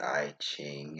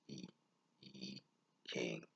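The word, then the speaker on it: I Ching: being the king or the i chain as some might say but it's pronounced e e king or the book of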